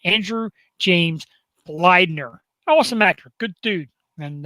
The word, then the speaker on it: Bleidner: going to say your name correctly andrew james bleidner awesome actor good dude and uh real quick